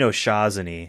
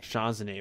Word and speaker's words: O'Shaughnessy: I can't still pronounce her last name. Colleen O'Shaughnessy. O'Shaughnessy, but she did.